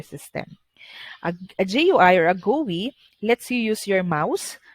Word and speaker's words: GUI: use a graphical user interface or gui or pronounced as gui okay so a graphical user interface or commonly